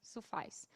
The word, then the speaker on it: suffice: A gente pode até não conhecer a palavra suffice, mas se a gente conhece ice, talvez a gente entenda que precisa rimar e aí a gente vai no caminho de pronunciar parecido com ice, suffice.